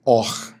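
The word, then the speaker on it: עור: Então é assim, a palavra hebraica luz, que é a palavra or, é a mesma pronúncia ou a mesma palavra que significa também pele, or.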